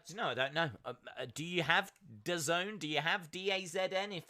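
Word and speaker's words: DAZN: US then it's on d-a-z-n which I think is pronounced the Zone I think it's pronounced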